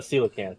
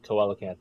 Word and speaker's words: coelacanth: it's based on a coelacanth or coelacanth, as I always pronounce it, Oh wow, it turns blue.